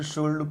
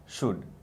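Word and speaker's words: should: ठीक है, वर, will, वुड, वुल्ड नहीं कहना, एल साइलेंट है। बच्चे अक्सर वुल्ड, शुल्ड, कुल्ड कहते हैं, जो कि गलत है। प्रोनाउंसिएशन होगा वुड, कुड, शुड।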